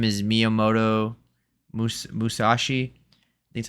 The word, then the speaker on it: Miyamoto Musashi: His name is Miyamoto Musashi. I think that's how you say his name. Musashi, yeah, sounds right.